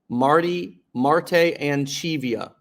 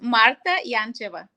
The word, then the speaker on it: Marta Yancheva: MARTAYANCHEVA. Okay. Marta Yancheva. I probably just butchered that. Can you pronounce that correctly for me? Yes, it's Marta Yancheva.